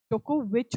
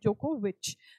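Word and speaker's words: Djokovic: आगे चलेंगे, which country deported Novak जोकोविच फॉर नॉट, अगर तुम्हें भी प्रोनाउंस करना नहीं आता मैं सीख लिया, जोकोविच होता है इनकी, डीजे नहीं बोलते, जोकोविच.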